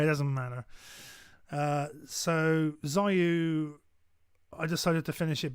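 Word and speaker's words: Xuiu: or so um the first one is called zayu um and it's spelled x-u-i-u um it was supposed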